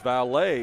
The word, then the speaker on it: Valet: Valet is how it's pronounced. Valet. Appreciate that. We appreciate that, Daisy. And thanks for watching. I knew as in valet parking.